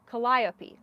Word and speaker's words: Calliope: The accent is on the lie. So it's Calliope? Oh, is it Calliope? Did I get it? Calliope.